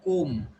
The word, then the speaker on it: comb: It is comb. Okay. And which letter silent? B. B silent. It should not be comb.